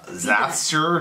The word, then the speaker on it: Xasthur: Xasthur, yeah.